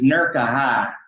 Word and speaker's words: Newark: And I live out in the sticks, and what we call it is Nurka-High. Nurka-High. That's how they pronounce it.